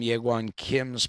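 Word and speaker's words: Jaegwon Kim: If you want to find that on Google, you can, but you need to Google his name as Well. That's spelled Jaegwonkim, and the paper is called What is Naturalized Epistemology?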